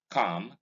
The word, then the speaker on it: calm: half, in palm, in calm, in psalm. The L in each of these words in this column is silent. These are just examples of words that have L as silent.